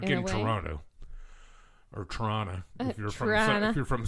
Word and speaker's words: Toronto: you can always tell when somebody is like not from here when they go Toronto. I'm like, yeah, Yeah. dude, that's not how you say it. No. It's Toronto. Toronto.